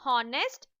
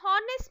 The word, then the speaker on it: honest: Children, the words that starts with the vowel sound like honest or honorable should have an before them. Even though these words begin with the H, a consonant, when you pronounce them, the H is silent.